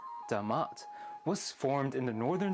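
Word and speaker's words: D'mt: During some time around the 8th to 7th centuries BC, the kingdom of Demat, calm down Joe Rogan, I know it looks like DMT, but it's pronounced Damat, was formed in the northern Tigray region of Ethiopia.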